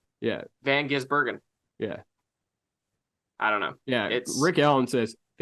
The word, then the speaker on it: Gisbergen: He says Van Gisbergen. And I'm like, you're just emphasizing too hard on the Bergen part, my guy. Yeah. It's really just say Gisbergen. Yeah. Van Gisbergen.